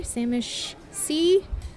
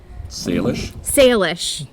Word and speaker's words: Salish: Samish Sea? Salish.